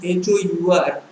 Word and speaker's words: hour: So although the actual spelling of hour is HOUR, we use, and although H is there, which is a consonant, since the sound is not present, it is silent, we say hour, so an is used.